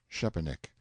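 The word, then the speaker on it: Szczepanik: Young Shepanick, note one, pronounced approximately Shepanick.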